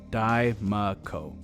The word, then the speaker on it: Diemaco: Diemaco.